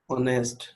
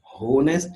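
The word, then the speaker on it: honest: ऑनेस्ट, होनेस्ट नहीं है, ऑनेस्ट।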